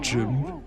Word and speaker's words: GIMP: Actually it's pronounced GIMP.